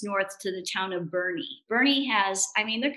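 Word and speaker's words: Boerne: little bit of texas head on up to bernie it looks like it's spelled b-o-u-r-n-e and like born texas but it's pronounced birdie and it's quaint and fabulous food and restaurants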